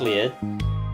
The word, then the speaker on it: Lied: Elfen Lied, look it up, Elfen Lied, it's spelt like Elfen Lied, but it's pronounced Lied, and go look it up, like, then come back here and tell me that anime is not mature, alright?